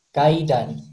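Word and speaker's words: 階段: Di bahasa Jepang cara bacanya kaidan.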